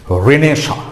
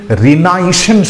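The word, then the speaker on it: Renaissance: তার প্রথম cinema debut বলে, ডেবিউ ফিল্ম, কিন্তু উচ্চারণে টি আছে। ডেবিউ কথাটা হচ্ছে DEBUT। নেক্সট, রেনেসা, নবজাগরণ। লিটারেচারে রয়েছে নবজাগরণ, ইতিহাসে রয়েছে নবজাগরণ। সেই রেনেসা বানানটা কি? RENAISSANC, রেনেসা। এটার উচ্চারণটাকে যদি তুমি রেনাইসেন্স করো তাহলে কিন্তু স্পেলিংটা মনে থাকবে কুইক।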